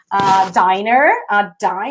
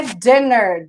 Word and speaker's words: diner: your friends in a diner. I'm going to talk about a diner, but let me write down here. Diner. Cuidado que não é dinner.